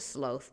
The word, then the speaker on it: sloth: I know you guys pronounce it sloth, but is it not written without the A? Hold on. Sloth. It's like the U in color and honor.